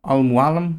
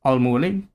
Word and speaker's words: Al Mualim: In the game, they pronounce it like this, Al Mualim, but there are characters who refer to him as Al Mualim.